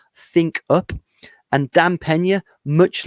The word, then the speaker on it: Pena: It's Dan, D-A-N, Pena, P-E-N-A, pronounced Pena.